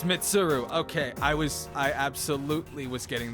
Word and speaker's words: Mitsuru: It's Mitsuru. Okay, I absolutely was getting the name wrong.